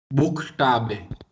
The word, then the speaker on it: Buchstabe: CH is either sh or Kh. kh. So how it would be pronounced this time, sh or kh? Kh. Kh. Why? Because it is after you.